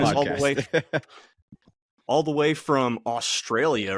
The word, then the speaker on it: Australia: Yeah, thanks for joining us all the way from Australia, right? Yeah, Australia. It's funny. Every time I hear Americans say Australia, I'm like, God, you say Australia like an American. It's Australia.